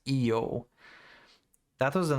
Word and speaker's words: Io: Yeah, in English it's pronounced by Io, but the Greek it's pronounced Io.